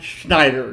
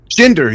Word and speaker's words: Shinder: I love drummers because my co-host Blake is a drummer, and I can't wait to talk to Dan Schneider. Did I get Shinder? Shinder, yes. Shinder. Okay, so Yeah.